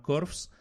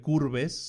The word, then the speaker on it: Curves: Pero resulta que crean una nueva empresa y esta empresa se llama Corps o se escribe Curves. Seguramente mucha gente la reconozca así en el mercado hispano por curves. Bueno, pues Corfs o o curves, digamoslo así.